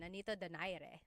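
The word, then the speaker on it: Nonito Donaire: So, our first poll here is going to be Mani Pacquiao versus Nonito Daire or is in in the Tagalog uh pronunciation. Nonito Dere.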